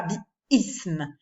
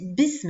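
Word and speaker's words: بسم: hamza instable, c'est-à-dire que lorsque je rajoute quelque chose avant, comme ici une préposition, je ne la prononce plus comme un coup de glotte, je ne marque pas cet arrêt, je ne dis pas bi-ism, je dis bism, je fais tout de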